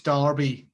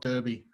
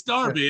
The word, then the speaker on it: Derby: hunting it's like it's it's darby not derby exactly it's darby and i've said that